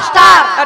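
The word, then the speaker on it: star: আরে মাসি তার নয় বলো, প্রত্যেকটা বিষয় তুমি স্টার পাও। স্টার তার নয় বলো স্টার।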